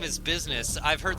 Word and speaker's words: BizSnes: I've heard like BizSnes, BizSnes, because people don't pronounce it the European way, even though I'm from, like I said, Milwaukee, Wisconsin, and it's the way that I've always pronounced it. So, because it's like Ness from Animal Crossing, or not Animal Crossing, fucking Earthbound.